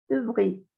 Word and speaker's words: ouvrir: En francés, cuando hay una O y una U juntas, siempre ustedes van a encontrar esas combinaciones en francés, se pronuncia como la U. Par exemple, ouvrir, ouvrir, ouvrir. ¿Listo? No decimos ouvrir, ouvrir. Las dos letras suenan como una U.